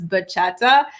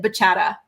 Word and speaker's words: bachata: But the way she pronounces bachata, she pronounces it baca and it every time she says it like an angel loses its wings.